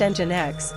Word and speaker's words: Nginx: Jinx pronounced engine X is a popular open source